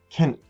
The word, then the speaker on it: Kind: However, at the end of a word or syllable, it sounds more like a T. So let's go like that. Dama, Kind, Dama, Kind.